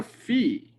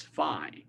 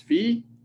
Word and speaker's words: phi: This is the letter phi, okay, in Greek. Sometimes some people call this phi.